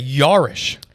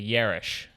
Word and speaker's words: Yarish: and yelling and so i kind of do more of like an uh air like a yarish and so it's just